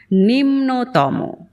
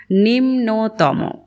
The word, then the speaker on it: নিম্নতম: অধিকতম, নিকৃষ্টতম, সর্বোত্তম, উচ্চতম এবং নিম্নতম। নিম্নতম। এটি দুবার বলছি কারণ এই শব্দটি আমার প্রায়শই ভুল হয়ে যায়। আমি নটাকে আগে নিয়ে আসি। নিন হয়ে যায় আমার।